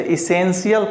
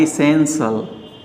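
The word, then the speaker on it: essential: यदि आप इसे इसेंशियल पढ़ रहे हैं तो ये गलत है। इसका सही होता है इसेंशियल, इसेंशियल, ये करेक्ट उच्चारण है। इसेंशियल, आवश्यक जिसे आप कहते हैं। इसेंशियल, अगर इसे आप कहते हैं इसेंशियल, तो ये आपका गलत हो जाएगा। इसलिए इसेंशियल बोलना है।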